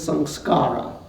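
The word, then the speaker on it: saṃskāra: it becomes a habit the Sanskrit word for habit is song SCARA the pali pronunciation is some karma so habits can be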